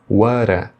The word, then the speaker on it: what do you do: Aqui o que ocorre na hora deles pronunciarem é que o T final de what vai emendar com o D inicial do do, vai ficar whata, What?